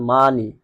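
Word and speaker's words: money: দেখুন এখানে উচ্চারণ হচ্ছে মানি, মানি, মানে উচ্চারণ হচ্ছে, তাহলে দেখা যায় ও এর উচ্চারণ এভাবে আ হয়।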